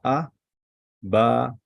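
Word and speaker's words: אבא: ah ba and alef so we pronounce it like this you see the difference ah ba this is long this is long and this is short and this is long ah which means everyone know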